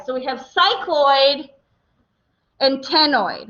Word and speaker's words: ctenoid: Okay, so we have cycloid and ctenoid, right? That first C here in the second one is silent, so we just start with the T. It's ctenoid scales.